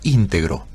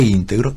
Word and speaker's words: íntegro: Es la misma palabra, entero e íntegro son la misma palabra. Provienen de la misma raíz latina, pero íntegro, pronunciado con esa pronunciación esdrújula, sí, con esa G ahí entre medio, íntegro, es una pronunciación